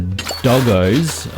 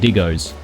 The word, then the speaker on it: diggos: to look for the doggos, or sorry, I think I'm pronouncing them wrong. They're actually called diggos, and it's a combination of dingo and dog, or doggo, so that's why it should be diggo.